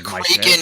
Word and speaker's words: Kraken: I've always heard it pronounced Kraken. The Kraken at the Crake House. Kraken. Like a crack house.